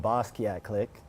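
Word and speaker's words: BO$QUIAT CLIQUE: And basically how we got that, it's from the name of Jean-Michel Basquiat, who is a painter.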